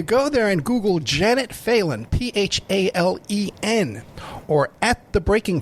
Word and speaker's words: Phelan: So Janet Phelan is Phelan. Thank you. That's right. It's spelled Phelan, Phelan, but not Phelan, but it's pronounced Phelan, Janet Phelan.